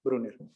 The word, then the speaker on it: Bruner: qué es que bruno así como se pronuncia se escribe con b grande brunner entonces brunner le hace